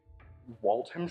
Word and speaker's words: Waltham: Statement of Kieran Woodward regarding items recovered from the refuse at 93 Lancaster Road, Waltham Store? Waltham Store? Do not pronounce the ham. Leave the ham out.